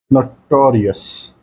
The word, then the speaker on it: notorious: And the first word is notorious. The stress is on TO part.